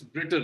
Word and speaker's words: Britain: You pronounced Britain as Britain, Okay, sir. so you don't say Tain. It's Britain. Written.